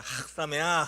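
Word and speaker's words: חג שמח: 이게 그냥 해트 발음이라 그어 이게 그냥 학이 아니라 따라 보세요. 예. 이걸 잘해야 히브리어를 잘해요. 싸메아. 자, 함께하겠습니다. 학사메야.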